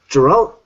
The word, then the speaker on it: Geralt: But everyone pronounces his name different. It's Geralt of Rivia.